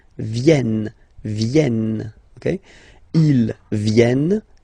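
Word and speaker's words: viennent: So remember this classic ending and for the third person of the plural is here but phonetically doesn't exist. So you don't pronounce it. Vienn.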